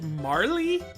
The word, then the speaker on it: Marle: Because I've always pronounced it Marle? Like just marble without the B, I guess. Marle. But I've heard some people say it's pronounced Marley? Like with a strong E at the end?